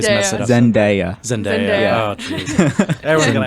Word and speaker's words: Zendaya: Zenaida. Yes, I always it's mess it up. Zendaya.